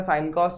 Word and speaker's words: sine: जैसे कि जो साइन जो आपने पढ़ा ना, साइन तो SIN, ये तो सीन होना चाहिए, अपन इसको साइन क्यों बोल रहे हैं, लेकिन एक्चुअल में इसकी स्पेलिंग होती है SINE।